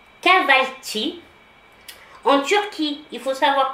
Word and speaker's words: Kahvaltı: Le petit déjeuner turc, qu'on prononce, je suis désolée s'il y a des Turcs, si je prononce mal, ça se prononce Kahvaltı.